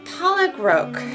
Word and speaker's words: pollock roe: Because the last ingredient is 1 strip of pollock roe. Pollock roe. Did I say it right or wrong? Like Kevin Pollock, the actor. And then row, like row a boat.